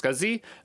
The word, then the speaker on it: SCSI: as an scsi drive i think that's pronounced scuzzy and are labeled with